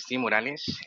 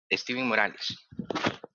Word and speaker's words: Steven Morales: Esteve, no sé cómo se pronuncia. Hola, ¿me escuchan? Hola, sí, sí te escuchamos. Muchas gracias. Eh, bueno, mi nombre es Steven Morales. ¿Steven? Steven Morales.